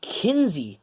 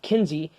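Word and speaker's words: Kinze: But this is a Kinsey tractor. Normally you know Kinsey for their planters, grain carts, and stuff like that. Kinsey is spelled K-I-N-Z-E. This tractor is known as Big Blue, or the Big Blue tractor.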